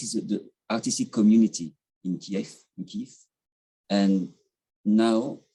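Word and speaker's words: Kyiv: It is Kiev, yes.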